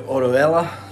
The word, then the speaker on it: Orihuela: uh we're going to oroella that's how you pronounce it i can never pronounce